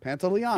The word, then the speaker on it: Pantoliano: Pantoliano? Yeah, Pantoliano.